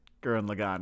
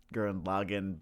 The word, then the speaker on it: Gurren Lagann: I know it's Gurren Lagann, but for whatever reason, I must put the emphasis on the second syllable. It just sounds more correct. I don't even care that it's not.